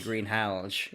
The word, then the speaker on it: Greenhalgh: I never knew that was how you pronounce that name, Greenhalgh. No, I would never have guessed that, and that's exactly how it's pronounced, apparently, Greenhalgh.